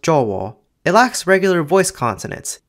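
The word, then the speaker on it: Jawa: Javanese has six vowels, a, e, I, o, u, and a, with a being pronounced o at the end of words or before another o, so the word for Java is actually pronounced jowo.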